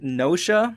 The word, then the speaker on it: Gnosia: I also played Nosia, and that's spelled with Gnosia. Nosia.